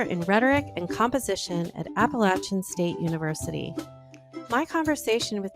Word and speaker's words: Appalachian: Bill is a lecturer in Rhetoric and Composition at Appalachian State University in North Carolina.